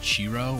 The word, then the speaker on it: Chiro: chance to get the I think it's pronounced chiro or Chiro c-h-i-r-o prints you need 10